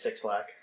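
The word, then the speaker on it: 6LACK: never heard it pronounced technically supposed to pronounce it black is this supposed to be like lowercase yeah i i figured that but i'm not sure how you pronounce it but it's it's six lack nobody's calling it nobody's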